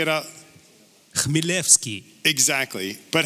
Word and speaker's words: Chmielewski: How do you pronounce it? Chmielewski. Right. So say it out. Chmielewski.